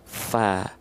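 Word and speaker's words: ف: Tapi huruf fa dilafalkan tidak menjadi fo, tapi tetap fa, maka dia huruf yang tipis.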